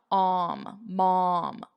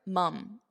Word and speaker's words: mum: Mom. But here, mum, It's more of an unstressed mum.